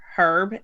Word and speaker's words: Herb: It should be herb and not herb. Yeah, except for when it's a name and that it's Herb.